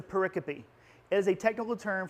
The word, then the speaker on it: pericope: It's spelled like pericope. But it's a pericope.